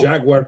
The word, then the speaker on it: Jaguar: No, Jaguar comes from the Portuguese. The language. Jaguar brand comes from the Portuguese word jaguar, and that is the correct pronunciation of the British car company.